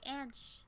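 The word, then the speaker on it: Ansh: what's their name um a-n-s-h i'm so sorry and shh i think but tell me if you want if i pronounced your name wrong and i will try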